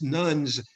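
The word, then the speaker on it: nones: connection to organized religion, the so-called religious nuns, spelled N-O-N-E-S, not like spelled like the folks who taught me, and bless them for trying.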